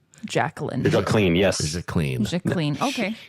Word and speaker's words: Jacqueline: And that's how we're pronouncing the first name, Jacqueline.